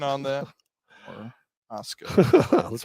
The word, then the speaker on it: Orozco: Thank you for the pronunciation on that. Orozco.